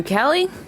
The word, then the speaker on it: Cali: I'm Cali, just like the state.